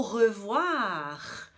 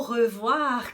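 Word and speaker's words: au revoir: também na palavra o revoar o revoar que significa adeus tchau então Oi francês tem som de ou a como no utilitário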